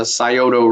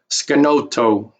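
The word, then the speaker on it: Scioto: today modern day Ohio they mispronounce this River Valley they call it the scoto river valley but that that is not the the proper name for that River it's more appropriately uh called skoto skoto which is actually a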